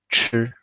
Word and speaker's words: 吃: To drink is 喝, and to eat in Chinese it's 吃, 吃. The E is silent.